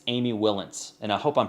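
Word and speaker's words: Wilentz: of work and in this case it's amy willins and i hope i'm pronouncing that right w-i-l-e-n-t-z she's written for time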